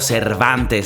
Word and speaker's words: Cervantes: It's your boy Cervantes. That's how you say it, like in the ethnic tongue.